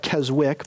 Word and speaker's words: Keswick: the american church it's called keswick theology spelled k-e-s-w-i-c-k looks like keswick but it's pronounced keswick theology kazakh theology is named from